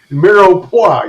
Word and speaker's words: mirepoix: It's the mirepoix, or the ménage à trois, as my daughter calls it. No, that's not it. It's mirepoix. You're saying it wrong.